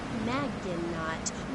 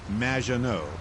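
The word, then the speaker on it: Madgenot: Magdenot. Welcome to the show. Thanks, Amy. However, you have mispronounced my name. It's Madge, which rhymes with badge, as in duh, and no as in more than you. Maginot.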